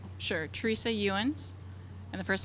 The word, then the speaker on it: Ewins: last name for me so we get your pronunciation right? Sure. Teresa Ewins. And the first name is Teresa. Last name is Ewins.